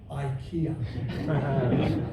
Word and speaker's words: IKEA: that this is funny in Sweden they pronounce it Ikea but actually in England if you pronounce it Ikea I said you know